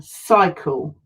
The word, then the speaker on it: cycle: Cycle. Okay, and that was for our soft C, cycle, and it was followed by a Y, which makes it a soft C.